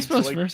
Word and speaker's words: Joique: And there's Joik Bell. Oh, that's a good one. I like that. I remember like thinking Joik Bell.